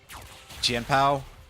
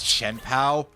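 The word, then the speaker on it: Chien-Pao: Or, I always hear people pronounce it as Chenpao, and in the back of my head, I'm just fucking screaming. Because, first of all, I know that that's not actually the way that Chinese is transliterated anymore, typically.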